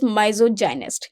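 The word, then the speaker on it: misogynist: also be called Mis gist but basically the pronunciation for this word is mysoginist so gy we know well is a term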